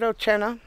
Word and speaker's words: Oche'Nah: I said, Oche'Nah.